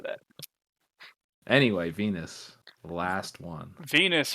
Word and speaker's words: Venus: Venus, her name rhymes with Penis.